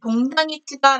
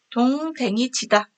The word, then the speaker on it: 동댕이치다: 네, 동당이치다 라고 하지 않고 동댕이치다 라고 얘기를 합니다.